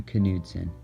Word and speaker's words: Knudsen: Knudsen, and yes, That is how it is pronounced.